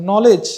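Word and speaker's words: knowledge: বলে আমরা তখন এখনো বলেছিলাম নলেজ নলেজের মধ্যে কিন্তু কে থাকে কে এটা আমরা সাউন্ড করি না কে এটা সাইলেন্ট থাকে এমনি ভাবে এখানে তুয়ানের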